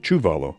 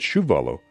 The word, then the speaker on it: Chuvalo: name was originally spelled without the age and pronounced chuvalo but shuvalo became the accepted pronunciation over time his father